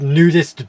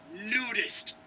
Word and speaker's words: Nudist: of a group called nudist beach no no you're not saying it right it's nudest you have to say it with heart C you you must